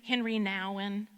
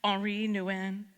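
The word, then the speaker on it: Henri Nouwen: it do you know the name Henry Nan or more correctly pronounced HRI Nan he was a Dutch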